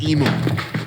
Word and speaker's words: emu: well over 100 lb am I going to get away with saying emo no how do you say